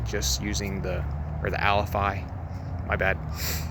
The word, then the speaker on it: Alafia: Somebody in the comments, I'm sure, is going to say you're pronouncing it wrong. It's Alafi. Vast majority of my life I've called it the Alafia, but I know it's technically the Alafi River.